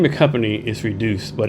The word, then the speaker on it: Redyoos: So reduce is spelled R E D Y O O S and it was actually